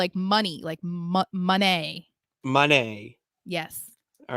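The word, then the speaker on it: Moné: Are you kidding me? Monet. Yes, money. Mercedes Monet. See, I feel like I'm saying it exactly. You're saying Monet, the painter. Monet. Oh, sorry. It's money, Monet.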